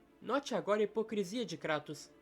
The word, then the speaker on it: Kratos: E sim, a pronúncia é Kratos mesmo, não cratos.